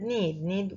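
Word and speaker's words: knead: Another word is need and need one with K and one with silent K and one without a K.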